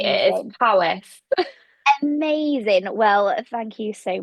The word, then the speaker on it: Powys: Well done with the Welsh pronunciation there. I mean, it could have been anything, being Welsh language. So I'm Gonna glad that say it's they are not known for their easy pronunciation. so I'm glad that it's how it looked.